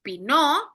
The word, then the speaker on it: Pinot: La primera parte es pinó. Ahí les pongo cómo se pronuncia. Eh omitimos la tés muda la t en esta palabra pinó y viene de la palabra francesa pino.